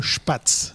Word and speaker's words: Spatz: Alors ça s'appelle Schpatz. Voilà, on est clairement ou alors d'accord je précise quand mme ça s'écrit sp a tz comme ça se prononce pas quoi.